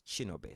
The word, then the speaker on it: Chinobay: And so my name is pronounced as Chinobe.